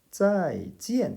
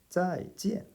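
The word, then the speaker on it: 再见: 再见 이라고 합니다. 둘 다 사성이죠.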